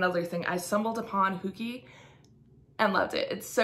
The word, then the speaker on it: Hooky: to me before um some of you might call it hooky because you pronounce it like hook like right like Captain Hook um I was raised by minnesotans so I over pronounced my O's so I call it hooky but you might call it hooky so let me know I guess how you pronounce it do you say like hap like Captain hooky or do you pronounce it like me huki um but either way